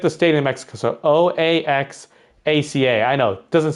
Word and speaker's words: Oaxaca: It doesn't sound like how you would say it. Or spell it, I should say, maybe. If you look at the word, you wouldn't understand how to say it.